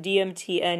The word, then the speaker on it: DMTN: And the weirdest part is that it's pronounced Dalmatian. DMTN is Dalmatian.